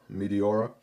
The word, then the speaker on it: Meteora: But the Meteora, right, kind of sounds like a planet or something, like a combination of meteor with aura, Meteora.